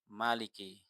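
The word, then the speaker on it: مَلِكِ: Sisanya atau selain dari Asim dan Al-Kisai ini membaca Maliki dengan menghapus alif. Berarti gimana bacanya? Maliki.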